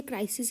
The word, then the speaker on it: crises: Correct plural of क्राइसिस, और क्राइसिस का होता है, इसको भी हम प्रोनाउंस क्राइसिस ही करते हैं बट इसके स्पेलिंग होते हैं CRISES। आई की जगह ई आ जाता है तो साउंड ये क्राइसिस ही करता है, लेकिन इसका जो फॉर्म